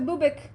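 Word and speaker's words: Bubák: Beware of the bubik the what the boobic the boobic it's spelled b-u-b-a-k but I looked it up how to say it in spubik I want to give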